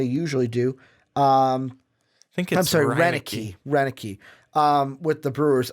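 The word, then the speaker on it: Roenicke: the one to change the culture Ron Raonic Roenick he probably saying that wrong look I usually do think I'm sorry Rena key Rena key with the Brewers Wikipedia is your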